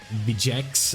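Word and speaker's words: Vegeks: have the STR 1-year Gogeta, you have a Vegex, is how you say that, so it's the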